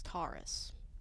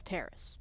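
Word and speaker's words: Taris: Karth says Terrace. Somebody else says Taurus. It's Terrace.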